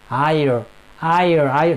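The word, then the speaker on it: heir: And another one as well, H-E-I-R, H-E-I-R, higher, that means Uttaradhikari.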